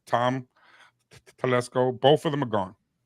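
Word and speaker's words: Tom Telesco: they fired Mr Staley he's gone they fired Tim Tesco and coin think I said his wrong yeah I said his name wrong Tom Tesco both of them are gone okay um and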